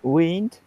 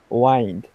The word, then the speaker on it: wind: think I know that wind and wind okay get it yep see two different pronunciation um the the eye is different does it wind wind